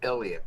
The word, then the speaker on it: Eleyet: wife musical Duo known for their musical group iset McConnell and we have them here today on the show thank you for coming we're so excited to chat with you today thank you uh it's actually pronounced Elliot we oh I said ellot oh my gosh